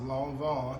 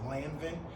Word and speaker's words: Lanvin: little history on it so long Von is pronounced long Von but some people like to pronounce it lanin um it is one of the oldest French